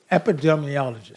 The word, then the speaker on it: epidemiologist: Epidemiologist? Okay, epidemiologist.